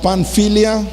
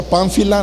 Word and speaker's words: Panfilia: Terminamos diciendo, pasando luego por Pisidia, vinieron a Panfilia. ¿Cómo se pronuncia? Pánfila, no, ¿verdad? Panfilia.